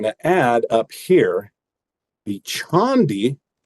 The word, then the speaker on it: Chande: add up here the Chandi. So it's spelled Chande. You can see why someone who they're not familiar with the gentleman named Tushar Chandi, they might see this and say, ooh, Chande sounds exotic.